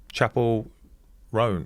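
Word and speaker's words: Chappell Roan: Um, Chapel Ran, how do you say it?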